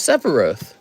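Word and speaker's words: Sephiroth: Here's Sepharoth. It's Sepharoth.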